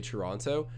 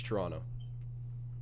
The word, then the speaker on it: Toronto: talk like too formal i say toronto but like that's just me trying to like you know monitor my words normally if i'm just speaking to someone it's toronto silent t at the end silence but um but